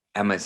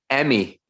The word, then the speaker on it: Emmy: little bit thank you how do you say your name again emmy yeah i think maybe emmy is better than forget about emma emmy boom boom thank